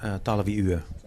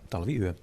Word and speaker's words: Talviyö: So how do you pronounce it? Talviyö. Talviyö.